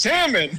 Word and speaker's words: salmon: say salmon it's pronounced salmon I you don't pronounce the L no the l i